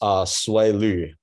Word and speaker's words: Siwei Lyu: My name is Siwei Lyu, spelled as S-I-W-E-I-L-Y-U.